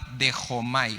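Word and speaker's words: δέχομαι: griego es la palabra de jomay se escribe de chomay Acuérdate que en griego ch suena como J de hecho May y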